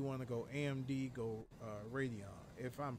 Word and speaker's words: Radeon: If you want to go AMD, go Radeon. If I'm pronouncing that right. Radeon, you're right.